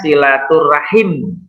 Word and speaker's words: silaturahmi: Aza sudah bagus membacanya tulisannya silaturahmi membacanya silaturahim go kalau oleh KMI Rahmi tapi kalau membaca silaturrahim diantara membaca dan tulisannya berbeda ini salah satunya ingin